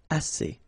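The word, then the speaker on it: assez: means enough okay a remember two vowels here a and then uh and then double s so it's really strong the s a assay okay ass so same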